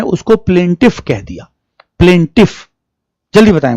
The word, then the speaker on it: plaintiff: तो यहां इसे कहते हैं PLAINTIFUL, प्लेंटफुल। भाई तुम देखना, यही स्पेलिंग है इसकी, PLAINTI।